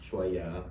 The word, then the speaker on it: Choya: My name is pronounced choya choy choya.